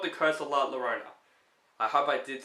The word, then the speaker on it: La Llorona: put there because I don't think people will pronounce that name yet it's called the curse of La Llorona I hope I did say that right this